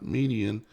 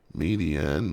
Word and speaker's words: Midian: Midian, Midianites. And they pronounce it Midian. Midian.